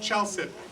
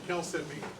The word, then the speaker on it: chalcedony: Some people pronounce it chalcedony, but I call it chalcedony.